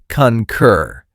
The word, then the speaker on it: concur: Two syllables with stress on the second. The first syllable has that short u sound like in cup. Concur.